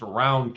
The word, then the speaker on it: Rowan: It's pronounced round county.